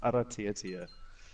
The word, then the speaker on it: Aratiatia: It's Aratiatia. So you roll the R, and then it's Aratiatia.